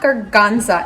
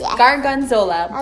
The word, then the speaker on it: gorgonzola: It's not gorgonzola, it's gorgonzola.